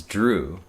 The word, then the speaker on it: drew: The pronunciation of the past tense, simple past tense, drew, is the same vowel sound as blue.